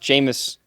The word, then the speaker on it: Jameis: p p penis Winston it is pronounced jamus so it be like